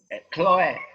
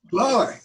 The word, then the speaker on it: Chloe: Chloe, like the Greek goddess of the grass, Chloe. C-H-L-O-E. Chloe, yes. Chloe. Oh, wow. I'm French educated, and in French it's Chloe.